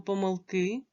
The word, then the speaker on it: помилки: як треба вимовляти слово помилки Давайте зробимо висновок про наголос у цих словах слово помилка можна наголошувати так помилка і помилка а слово помилки має один наголос запам'ятайте це будь ласка